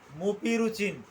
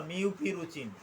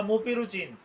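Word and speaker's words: Mupirocin: আমার তো ভুল করা চলবে না আমাকে সঠিক উচ্চারণটা করতে হবে মুপি রুচিন অথবা মিউপি রুচিন আমি আবার বলছি মিউপি রুচিন অথবা মুপি রুচিন হ্যাঁ এইটা টু পার্সেন্ট এটা বিভিন্ন কোম্পানির বিভিন্ন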